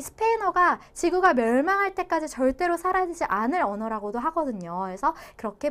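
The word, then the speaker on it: Zara: 라고 자라를 발음할 때는 스페인에서는 사라 이렇게 번데기 발음으로 해주셔야 된다. 근데 중남미에서는 그냥 시옷 발음으로 해도 상관없다.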